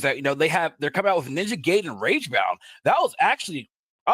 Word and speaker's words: Ninja Gaiden: I know it's a little nitpick, not about the trailer, but for what you're saying, it's pronounced Ninja Gaiden.